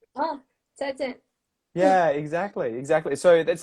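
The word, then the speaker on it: 再见: for goodbye would be 再见, and it always has to be It's like very short. 再见. Yeah, it Yeah. has to be down, down.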